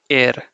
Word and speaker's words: er: will teach you that when R is at the end of a word you don't pronounce it okay you don't emphasize